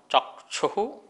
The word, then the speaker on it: चक्षु: स्पर्शन, रसनक घ्राण, चक्षु, जो ये छा जो है वो का और शा से मिलके बनता है, इसलिए अपन चा के बाद थोड़ा सा का साउंड, चक्षु, ठीक है।